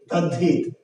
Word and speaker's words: তদ্ধিত: দয়ে ধ তদ্ধিত, তদ্ধিত, কিন্তু আমরা উচ্চারণ করছি কি তদ্ধিত ধয়ে ধ।